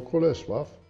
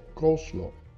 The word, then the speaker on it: coleslaw: wyjaśnienia w Polsce popularni nazwę tej surówki wymawia się jako Colesław oryginalna wymowa to koslo koslo konsola a ja